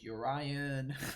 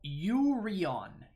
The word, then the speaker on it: Yorion: it's kind of whatever yorion and urian i call it yorion some people call it urine like it's just it's just too much these random names that's how that's your yuri on yuri on yeah there's no way